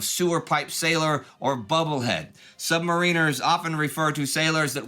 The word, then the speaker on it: submariner: Yes, submariners, not submariners. Quote, "The pronunciation submarine plus with stress on third syllable, submariner, is preferred by naval brass as evidence of submariners' collective lack of concern for the opinion of non-submariners on any matter.